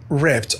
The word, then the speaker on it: ripped: Ripped. R-I-P-P-E-D. بنطق هنا الED تاء. Ripped. Like that.